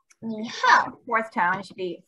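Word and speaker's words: 你好: It's like your knee, but we have to say it. Knee. And then it's like the word how, but we have to say how. So it's knee, how.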